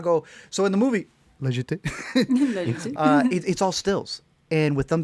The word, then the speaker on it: La Jetée: La Jetée, I want to say.